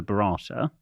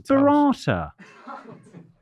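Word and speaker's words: burrata: having the Bata and apparently this is the wrong pronunciation B it's bata bata who says b it's it's the same when it goes Bretta Bata it's it's better tomato it's barata said Mickey Flanigan Jo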